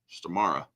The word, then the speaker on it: Stormare: Frankenstein the E is pronounced as the e in end sta okay star stari all right yeah stara yeah star all right